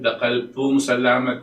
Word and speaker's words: Dakal pong salamat: Dakal pong salamat kay kayo.